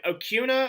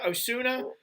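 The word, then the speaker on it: Acuña: A lot of guys picking, I don't know how to pronounce his name, Osuna. Acuna.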